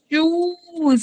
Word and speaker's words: choose: Choose.